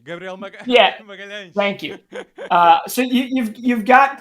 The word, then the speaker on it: Magalhães: Magalhães. Gabriel Magalhães. Yeah. Magalhães.